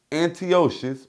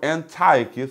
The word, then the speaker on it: Antiochus: evil shoe which was aunty ocean or Antiochus whichever way you would like to pronounce it we see that he